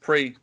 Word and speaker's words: grand prix: on there did a grand prix or grand prix whatever you want to say um no no pre it's pretty well it's spelt with an x but anyway right get